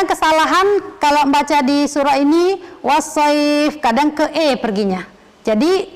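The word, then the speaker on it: والصيف: Oh ya kadang-kadang kesalahan Tolong baca Disuruh ini wash voice kadang ke eh perginya jadi di kita dibacanya was so I was Yi bukan wassoif kadang ke emarang rakyat rasywah jadi wash voice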